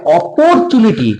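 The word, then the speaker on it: opportunity: ও আর পর, অপরচুনিটি, টি ইউ এর উচ্চারণ চু বা চা হয়, টু বা টা নয়, ঠিক আছে?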